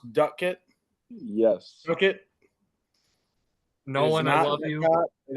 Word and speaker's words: Doetkott: is a g and Nicholas's last name is pronounced Ducket yes Ducket no one it is not all it's Ducket get it right you bet right Sam you